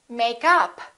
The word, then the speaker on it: makeup: stress the preposition and if it's a noun we stress the first part for example make up or i'm wearing makeup i'd like to buy some new makeup another example is check